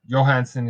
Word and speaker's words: Johansen: know johansen's uh or johansen is a weird um i guess one to pronounce sometimes he he prefers johansen uh so carl johansen